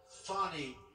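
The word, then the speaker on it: Fani: the horrible case of Fanny Willis it's it's actually pronounced fonnie it's f n i but you pronounce it fny a little French accent there fny but that's a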